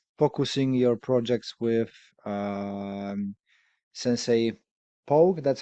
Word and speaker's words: Pogue: So we've been focusing your projects with Sensei Pogue. That's how you pronounce.